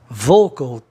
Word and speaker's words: vocal: Vocal, 2 sílabas, consoante no meio, O com som de O, né?